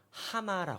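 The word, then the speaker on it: הָמָה: 같아요.이 동사가 뭐냐면 히브리어로 하마라고 합니다. 하마. 하마. 우리 말 하마도 하마라는 동물도 있지만 그 하마보다 이거는 히브리어 발음으로 굳이 네이티브 스피커처럼 읽으면은 이렇게 읽어야 돼요. 마 이렇게 읽어야 돼요. 하마 이렇게 읽습니다.이 뭔 소리 같으세요?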